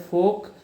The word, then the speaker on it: folk: Rajasthani dancers are essentially folk dances. Their origin is in rural customs and traditions. Okay, remember in word folk, sound la is silent here. Okay, remember this can be asked. Its pronunciation is folk.